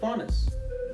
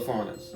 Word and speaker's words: Faunus: and he's talking about faunus. Now, have you guys heard that term before? No. I know It rhymes with jaundice.